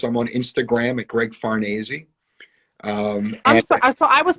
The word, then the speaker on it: Farnese: It's Italian, so it sort of rhymes with Scorsese. I always say, just think of Scorsese. It's Farnese.